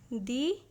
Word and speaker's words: the: इसलिए द के बजाय हम दी प्रोनाउंस करेंगे।